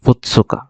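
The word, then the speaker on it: ふつか: তারপর আবার 2, এটা দেখেন 2টা দাগ, 2 এর কাঞ্জি, তো এটাকে বলতেছে ফুৎসুকা, ছোটা বড় আছে তাই এটা পূর্ণ উচ্চারণ হবে ফুৎসুকা, ফুৎসুকা। 1 তারিখ হচ্ছে সুইতাচি, 2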